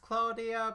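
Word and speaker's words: Klavdia: This is I think it's pronounced Claudia because the V could be a U with the song Asteromata.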